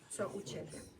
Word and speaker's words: co u ciebie: And then the last one is co u ciebie. Co u ciebie. Co u ciebie. Co u ciebie.